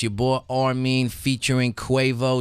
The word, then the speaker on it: R-Mean: It's Armin. It's spelled the letter R and then mean, like a mean motherfucker.